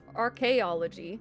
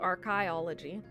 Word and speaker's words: archaeology: depending on the word because there's archaeology it's not archiology but other things are